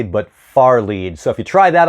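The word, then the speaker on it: fairlead: spelled fair lead but you want to pronounce that far lead not fairly but far lead so if you try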